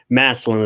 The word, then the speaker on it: Massillon: Massillon is what us locals call Massillon. Massillon, Ohio.